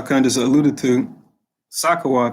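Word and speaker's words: סוכות: And like y'all kind of just alluded to, Sakawat, that's how you say it in the ancient Hebrew.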